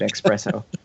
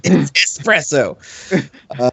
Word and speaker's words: espresso: ostriches name yes expresso the horrible mispronunciation of espresso I worked at a coffee shop and I couldn't stand every time somebody ordered expresso there's no X in that name yes - espresso vici the Frog who